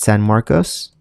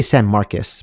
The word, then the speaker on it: San Marcos: take a look at San Marcos I want to say San Marcus but I'm pretty sure it's pronounced San Marcos let me know in